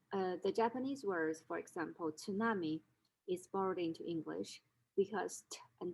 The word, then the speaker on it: tsunami: english language and so usually speakers of the language would drop the initial consonant and only leave tsunami instead of pronouncing it as tsunami which is very difficult for the native speaker the language a second way to